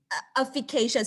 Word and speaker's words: efficacious: Efficacious. Sorry, it's not air, it's efficacious.